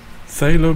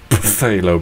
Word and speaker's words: phthalo: Phthalo blue, or as I originally called it, phthalo blue. Phthalo blue. Yeah, I don't think that's how you pronounce it. I think it's pronounced phthalo blue.